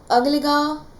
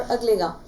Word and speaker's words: Agalega: एंड इसके बाद अगलेगा Iceland, ये AGALEGA, इसको अगालेगा भी बोलते हैं और अगलेगा। वो सबसे स्मूथ तरीके से आप बोलोगे, वो प्रोनाउंसिएशन ठीक करके बता दीजिए, वो है अगलेगा आइसलैंड।